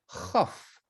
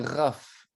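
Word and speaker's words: כ: Difficile à prononcer pour les noms sémites. C'est quelque chose qui doit s'entendre dans la gorge. Il y a un raclement dans la gorge, mais à ne pas mélanger, à ne pas se tromper avec la lettre R. Ce n'est pas un raf, c'est un chaf.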